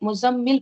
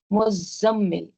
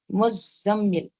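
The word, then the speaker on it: مُزَّمِّل: ठीक है, और ये जो मुज़म्मिल है ना, बाज़ लोग मुज़म्मिल पढ़ते हैं, मुज़म्मिल, ज़ाई के ऊपर तशदीद नहीं पढ़ते, वैसे नहीं है। नाम भी रखते हैं मुज़म्मिल, मुज़म्मिल कहते हैं, लेकिन वो गलत है। प्रोनाउंसिएशन क्या है इसका? मुज़म्मिल, ज़ाई के ऊपर भी तशदीद है, मुज़म्मिल। ठीक है, तो 2 तशदीद है, तो ये इसका सही प्रोनाउंसिएशन है।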